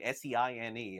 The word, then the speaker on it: Seine: The Olympics going on right now in that river in Seine, Seine, I believe is how it's pronounced.